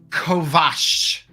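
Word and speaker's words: kovacs: do you say sausages in the old tongue Kovash Kovash yeah C I know k-o-v-a-c-s Kovash all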